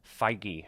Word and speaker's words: Feige: So some of the things we have looking forward to, I think Kevin Feige, I believe is the pronunciation of the Marvel executive who is at Comic-Con talking about these things.